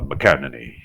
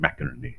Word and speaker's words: McInerney: Vou utilizar aqui uma pronúncia escocesa, né? Essa é Mac, então é escocesa. McInerney seria uma pronúncia mais escocesa. Nos Estados Unidos ele é chamado de Larry McInerney, né?